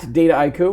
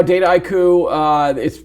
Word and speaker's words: Dataiku: So it really is just a portmanteau, like data and haiku.